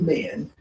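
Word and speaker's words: Min: going to do the pose of men men is spelled m-i-n we're going to do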